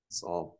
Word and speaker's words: psalm: Psalm. Even with psalm, I wouldn't pronounce the L.